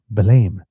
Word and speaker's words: Belém: I pronounced the name of a town called Belém, and it seems that the actual pronunciation is Belém, and therefore I am duly corrected.